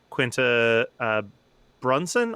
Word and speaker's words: Quinta Brunson: that, you know, it's created by the star, Quinta Brunson, I think is how it's pronounced.